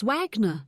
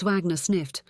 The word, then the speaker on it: Wagner: I am Mistress Wagner," she said, pronouncing her W's like a V.